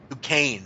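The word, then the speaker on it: Duquesne: he said in duq u s n e decain decain decain decain I knew it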